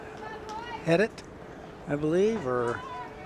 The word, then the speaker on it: Heidt: I believe they said that was number six uh for Prep, Jared I uh Heidt? I believe, or not sure how to pronounce that last name. Height? Something like that? Yeah, Heidt.